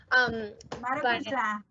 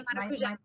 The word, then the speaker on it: maracujá: Maracujá. Sorry, Kate. Yeah, maracujá.